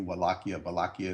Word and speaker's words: Wallachia: The border between, when I say border, I'm talking about the province of Wallachia, spelled with a W, Wallachia is how you say it, and Transylvania.